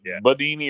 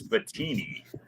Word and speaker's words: Bettini: I think it's Bettini. Yeah, you said it right.